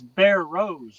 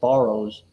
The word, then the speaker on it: Barrows: But it's Bear Rose, right? Yep. Okay. But everybody that tries to pronounce my name, they pronounce it Barrows. That's not Barrows. What are you borrowing?